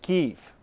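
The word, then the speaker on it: Kyiv: correct the map because the capital of Ukraine in Ukrainian language is not being spelled like Kiev but like kief so this on the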